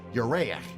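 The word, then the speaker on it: ירח: But the same Hebrew word, Yereach, moon, has another meaning in Hebrew, though pronounced differently. Yerach also means month.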